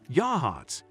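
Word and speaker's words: Yachats: Yachts, pronounced Yahhatz, has just 700 people, but sits next to two of Oregon's most famous natural wonders.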